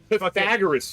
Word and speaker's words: Pythagoras: Basically, like you're Pragor Pragoras's theorem. Pythagoras, you dumbass.